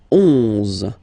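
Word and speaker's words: onze: Okay, then 11, 11. Okay, so O plus N give you the sound on, 11, 11.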